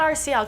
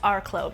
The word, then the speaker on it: RCLÓ: them in this video if you're wondering what Arklow Cosmetics stand for it's not our CL cosmetics it's our CLO which is pronounced Arklow because that's how I decided it's gonna be